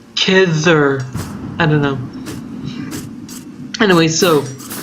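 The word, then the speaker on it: Khidr: It's like, the D isn't pronounced like a D so much as like a CH, a th sound, so it's like Kidder.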